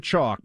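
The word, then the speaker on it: Choq: is phenomenal stuff friends it's spelled c-h-o-q they're herbal supplements that just help you get the focus energy and drive to get through your day chalk put years into researching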